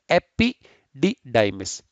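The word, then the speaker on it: epididymis: Correctly pronounce करेंगे, क्या करेंगे? एपिडिडाइमिस।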